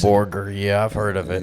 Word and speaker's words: Borger: think it was real I thought maybe my grandma was mispronouncing Burger Texas and I didn't think that that was real and it isn't but Borger is a real place Borger yeah I've heard of